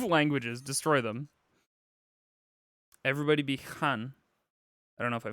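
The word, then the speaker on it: hän: A in Finnish is how Americans would pronounce A in can or dance. Okay, so han.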